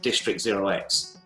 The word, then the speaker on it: District0x: Is it District0x?